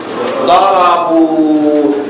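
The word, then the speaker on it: ضربوا: Darabu. That alif at the end is not pronounced.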